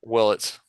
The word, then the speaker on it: Willits: So what I'm hearing is that your number one pick, Eli Willits, is that how you pronounce it? Willits? Willits.